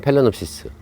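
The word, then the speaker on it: Phalaenopsis: 사실 팔레놉시스라는 단어도 모르는 분 많아요. 그렇잖아요. 그건 호접란인데, 그거를 저희는 페일레놉시스라고, 표기는 페일레놉시스인데 발음하면 팔레놉시스 두 개 다 같아요.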